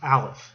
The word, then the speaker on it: aleph: this uh this letter is the hebrew letter aleph it's the first letter in the hebrew alphabet alphabet it's it's it's pronounced alef um when we put a little zero on